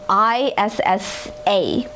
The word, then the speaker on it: Issa: a very cute name young baby what um i-s-s-a oh issa issa young baby issa thank you tony i